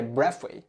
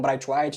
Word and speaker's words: Braithwaite: que vamos lá né Eu queria falar pela pronúncia certa que é Breath mas a transmissão os caras falaram bright White então acredito que vai ficar como bright White aqui no Brasil mesmo mas enfim um